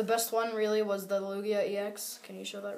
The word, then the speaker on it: Lugia: and the rare a Lugia EX full art so that was a awesome pull actually guys check this out pretty sure it's pronounced Lugia no it's Lugia so um there you